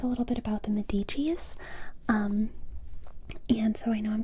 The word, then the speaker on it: Medici: But the correct pronunciation of Medici isn't even that, with the accent on the E. So, Medici. Medici? Medici. Is it more like med or maid?